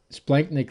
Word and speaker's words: splanchnic: abdominal organs is called the splanchnic circulation it's pronounced splenic splanknick literally just means abdominal organs uh so it's